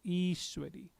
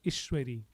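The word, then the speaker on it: ईश्वरी: is is is isw so the I has a bar over it so it is iswari had the I not had the bar over it it will be ishwari ishwari which is not the right way to pronounce it so it's is iswari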